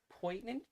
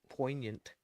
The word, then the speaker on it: poignant: point what point understood poignant poignant like with the G but it's a silent G I think poignant yeah all right it